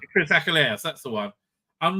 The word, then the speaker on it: Achilleos: How'd you pronounce his name? No, it's not Peter Angeli. Chris Achilleos. Chris Achilleos, that's the one.